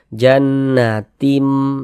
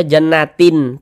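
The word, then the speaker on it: جنّات: ba hukumnya iqlab nah sehingga cara membacanya tuh dengan merubah menjadi mim nih Nah makanya di sini ada ada mim kecilnya nih kita baca jannatim Jangan dibaca jannatin Tin jangan tapi berubah menjadi mim jannatim kemudian kita kita dengungkan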